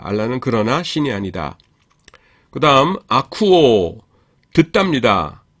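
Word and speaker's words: ἀκούω: 그다음 아쿠오 듣니다. 이것도 아 아 아코위오가 아니라 오미크론 입실론이 중무험이죠. 그래서 우 발음이 납니다.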